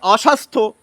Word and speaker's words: অস্বাস্থ্য: অ লাগান আর কু লাগান অ লাগালে হয় অস্বাস্থ্য কু লাগালে হয় কুস্বাস্থ্য সু লাগালে হয় সুস্বাস্থ্য এই দন্তশয় এর উচ্চারণ কিন্তু দীপ্ত হচ্ছে না আবার দেখুন এই